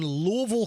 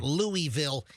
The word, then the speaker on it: Louisville: So, this is in Louisville, Kentucky. Notice how I say it like a local. Yeah, not Louisville.